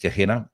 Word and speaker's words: Gehenna: I think it's pronounced Gehenna, described as a cursed place of fire and smoke.